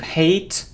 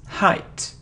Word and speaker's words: height: it's delete e delete it isn't hate hate or eight it's height height it isn't towards it's the